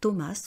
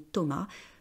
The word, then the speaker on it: Thomas: continuer Thomas vous voyez on prononce pas la dernière lettre on ne prononce pas la dernière console on dit pas Thomas on dit Thomas Thomas est le meilleur